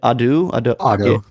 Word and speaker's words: Ado: New Genesis by how do you pronounce it? Ado.